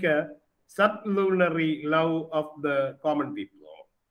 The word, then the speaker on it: sublunary: And in the poem, Valediction Forbidding Mourning, we come to find the reference to dull sublunary. It's to be pronounced as sublunary, not of the lunary level, but below the lunary level.